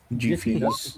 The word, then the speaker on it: Jiffy's: Jiffy's, Gif. Jiffy's Cartography. Not give.